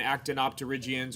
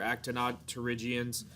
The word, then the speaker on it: Actinopterygians: groups of bony fishes, Sarcopterygians or Sarcopterygians, and Actinopterygians or Actinopterygians, depending on whether or not you want to pronounce that P.